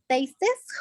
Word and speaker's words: tastes: the personal tastes, how do you say the pronunciation tastes? I don't know. Yeah, you don't pronounce the E.